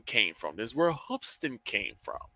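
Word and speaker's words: Hoopeston: There's a high school in Hoopston, Illinois. Spelled it is spelled hoop with an e s t o n, but it's pronounced hoopston.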